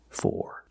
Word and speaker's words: for: I'm all for it in this expression for is stressed so we pronounce with the or sound I'm all for it